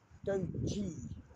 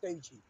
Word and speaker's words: Doogee: Doji, I call it Dogi, but it's pronounced Doji officially.